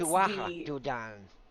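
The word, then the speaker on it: Tuatha Dé Danann: Well, actually, pronounce it Yeah, correctly is it's Tuatha the. De Danann. I am terrible at pronouncing things.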